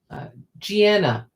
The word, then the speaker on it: Gianna: Yes, like Vienna. I was thinking it was like Sienna. That's probably that's how it occurred to me, but Vienna's a good example.